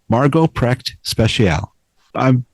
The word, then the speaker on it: Margo Precht Speciale: Please welcome Margot Prep Special. I'm very pleased to be speaking with Margot Prep Speciali. Am I Am I pronouncing your name properly, Margot?